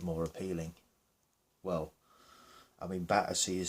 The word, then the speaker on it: Battersea: It's always been called Battersea. Well, either the developers or the new inhabitants, should I say, the new people that have been moving into Battersea, to make it seem a bit more upbeat and upmarket and a bit more hip, I suppose, they wanted to call it Battersea, right?